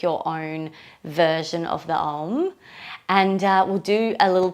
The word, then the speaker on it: Om: So we would pronounce the Om kind of like A-U-M. Om. So there's 3 kind of sounds to it. The way I do that tends to be like a little scooping sound.